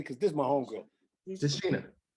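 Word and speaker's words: Tichina: Tashina.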